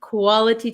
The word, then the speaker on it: quality: can say quality but this T um is surrounded by two vowel sounds so this becomes a flap te right quality Quality quality